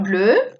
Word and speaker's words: bleu: D'accord, on continue avec la couleur bleue. Nous avons la phrase un anorak bleu, une robe bleue, des escarpins bleus, des chaussettes bleues. Aquí también pronunciamos todo igual. Bleu, bleu, bleu, bleu.